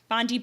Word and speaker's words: Bondi: Sydney how do you say it won't bondi bondi please just see people pulling on bondi beach